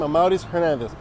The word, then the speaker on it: Amauris Hernandez: If you're new, that's how you say my name, Amauris Hernandez.